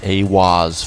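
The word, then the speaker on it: Aiwass: Aleister Crowley meditated inside the Giza octagram and channeled the divinity Awaz, pronounced Awaz, furthering the immutable connection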